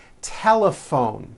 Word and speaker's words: telephone: Telephone. Notice the PH combination in that word is also pronounced as an F.